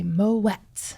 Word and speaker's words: Moët: mispronounced quite frequently so you do hit the T so you say Moet so when I say